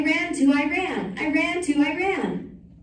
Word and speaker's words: Iran: "I ran to Iran, I ran to Iran." The correct pronunciation, I always informed them, is Iran. "Iran" is a sentence, I told them, as in, "I ran away from my geography lesson."